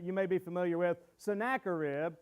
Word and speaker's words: Sennacherib: may be familiar with sennacherib or sin of cherub depending on how you say it i always say sennacherib he's another king he's